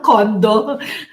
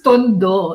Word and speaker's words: Tondo: So I am what people call Batang Tondo. Ooh. Batang Like Kondo? someone I know. It's Tondo. Tondo? He asked me, it's Batang Kondo. No, it's Tondo.